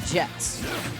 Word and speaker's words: Jehtt: Neves and Jehtt. I suck at names. We're going to go with Jehtt. That H is silent.